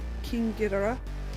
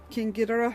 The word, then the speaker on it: King Ghidorah: Now I do have Biollante and King Ghidorah, and yes, I am pronouncing that correctly. I'm sorry, I really hate the way the Americans pronounce it, because that's not the way the Japanese pronounce it.